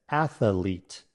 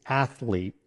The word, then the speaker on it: athlete: Many people mispronounce this word as athlete, adding an unnecessary extra syllable. However, the correct pronunciation is athlete with just 2 syllables. Let's break it down. Ath sounds like ath in athletic. Leet rhymes with feet.